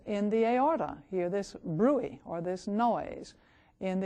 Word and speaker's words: bruit: may say to you that you have a bruit. It's spelled B-R-U-I-T, which means a noise or a